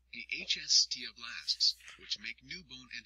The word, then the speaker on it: osteoblasts: Bone contains 3 types of cells: osteoblasts, pronounced osteoblasts, which make new bone and help repair damage;